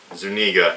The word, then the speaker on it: Zuniga: princess, played by Daphne Zuniga. I think so, yes. Zuniga? Yeah. Daphne Zuniga. Yeah, that's how you pronounce it.